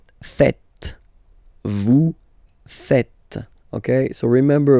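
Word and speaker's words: faites: tend to to say fuzzy okay but then no no no no it's fat fat okay so remember a final s here is not pronounced and then this is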